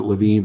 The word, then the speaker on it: Levin: gonna get might be mark it pronounces it Levine but spelled Levin who is a right-wing